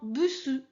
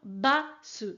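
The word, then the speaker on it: バス: Attention, ce mot vient de l'anglais, mais souvent mes élèves se trompent et j'entends bussu. Non, bussu, c'est une insulte, hein, donc c'est une insulte pour les femmes, on ne peut pas dire ça. Donc attention, basse, c'est important.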